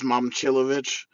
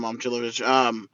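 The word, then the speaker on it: Momčilović: Oh, yeah, so how to say it is Momcilovic. Milan Momcilovic. Thank you for correcting me on that.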